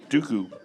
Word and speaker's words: Dooku: you can do it Dooku Dooku Dooku because it Rhymes it rhymes with poo poo and it sounds like